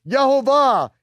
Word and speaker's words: Yehovah: And then he finds, here's the second time, he finds it, Yod-Heh-Vav-Heh, with the vowel pointings, and he pronounces it, Yehovah, Yehovah, Yehovah.